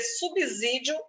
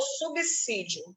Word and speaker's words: subsídio: Você pode dizer subsídio ou subsídio. É facultativo.